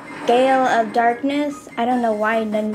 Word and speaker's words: Gale of Darkness: I kept saying it wrong. I was shocked to find out that it was actually called Gale of Darkness than Glade of Darkness.